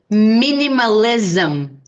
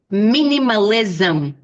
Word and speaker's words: minimalism: is the pronunciation any words in English end with this m and the pronunciation is z so repeat minimalism minimalism consumerism consumerism so the sound is like zum like this capitalism socialism